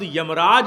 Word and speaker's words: यमराज: अनुशासन का जहां राज है उसे यमराज कहा जाता है। दुर्भाग्य यह है कि हम लोगों ने शब्द को ठीक से समझा नहीं। शब्द यमराज है, यमराजा नहीं है।